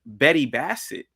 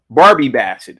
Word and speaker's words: Barbie Bassett: woman, this news reporter, Betty Bassett, is that her name again? Betty Bassett? I'm saying her damn name wrong. Barbie Bassett, excuse me.